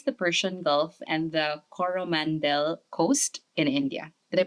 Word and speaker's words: Coromandel: for the Philippines, the Persian Gulf, and the Coromandel coast in India? Did I pronounce that right? Yeah. Coromandel.